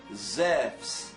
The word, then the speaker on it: Zeus: com o nome de Zéus. Zéus é a pronúncia correta, grega. Os gregos pronunciam a palavra Zéus para mostrar como se fala Zeus.